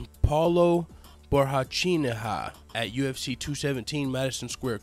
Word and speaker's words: Paulo Borrachinha: to fight against Let me make sure I'm pronouncing his name right. It's Paulo Borrachinha at UFC 217 Madison Square Garden.